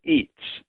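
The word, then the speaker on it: itz: that the Mayans called Eats. Eats was a very important concept to the Mayans. It's spelled it tz, but it's the the the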